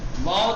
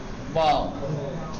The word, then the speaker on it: واو: فارسی زبان میں جب ہم واو تلفظ کرتے ہیں، سمجھ گئے، تو یہ اوپر کے دانت کو، اوپر کے سامنے والے دانت کو نیچے کے ہونٹ پہ رکھتے ہیں اور واو، یہ ایسے کرتے ہیں واو. لیکن عربی میں واو ایسے تلفظ نہیں ہوتا ہے.